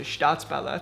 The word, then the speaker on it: STAATSBALLETT: Just because it was a very organic, natural, ambiguous process that led us to STAATSBALLETT. Yes. That's how you pronounce it.